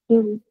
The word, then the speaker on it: ils: Extra S लगा दिया, तो प्रोनाउंसिएशन क्या हो जाएगी? इल, इल, क्योंकि S उसकी आवाज नहीं निकाली।